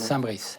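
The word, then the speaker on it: Saint-Bris: Hugues, vous êtes Gonzague Saint-Brice. Oui. Saint-Brice ou Saint-Brie, pardon? Saint-Brice. Saint-Brice. Ouais. C'est quelle origine? Parce que je me suis renseigné, on m'a dit qu'on ne prononçait pas toujours le S.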